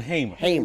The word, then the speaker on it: Hamer: You know, for for for decades I've pronounced her name Fanny Liu Hammer. And you still And I know and I still do it now. It's Fanny Liu Hmer.